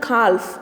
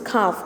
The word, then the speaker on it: calf: It is not calf. It is calf. L is silent. You have to pronounce it as calf.